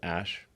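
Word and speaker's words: Æ: x um and then the ae is like pronounced ash yeah and then a12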